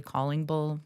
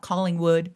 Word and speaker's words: Callingbull: just my name, Ashley Callingbull. I always go like this, CallingBull, so people know how to say it. It's not C O L L. Not calling wood, it's calling bull.